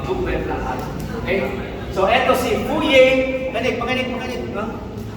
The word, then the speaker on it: Fourier: Okay so it si fye pinik pinik makinig no fye fier yon no sa sa ating pag-uusap no o four year law kong kasanay Pero ito four year sa French Ano ba ang equation